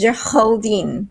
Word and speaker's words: Geraldine: teacher used to pronounce my name with the R behind his throat, and it's Yeah. really nice. So it's Geraldine.